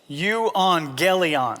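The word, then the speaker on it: εὐαγγέλιον: In the Greek, it's pronounced euangelion.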